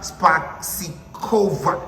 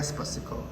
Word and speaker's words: Spasikova: The lady herself, her name is Miss Marija Spasikova.